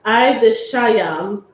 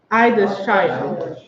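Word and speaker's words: עדשים: Lentils is pronounced Idishayam. Idishayam. Oh. So Did you get a chance to write it down? Ask for some. Idishayam.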